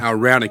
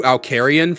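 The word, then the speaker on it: Al Ranican: Al Ranikin. Yeah. I was calling you Alcarian for the longest time.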